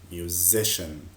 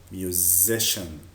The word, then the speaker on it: musician: musician. خلي بالكوا لو عندنا حرف C I A المجموعة الحروف دي بننطقها ش. Again, musician.